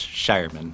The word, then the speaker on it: Shireman: It's actually pronounced Shireman. If you look, Shireman. I Okay, before thank E you. in German is always I'm an so I, sorry. but it's Sherman.